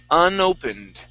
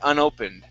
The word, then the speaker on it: unopened: Okay, this word here is pronounced unopened. All right, unopened. All right, the E is a short I sound.